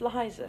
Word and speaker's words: Liza: your name pronounced yeah it's Liza Liza with a z right Liza yes sir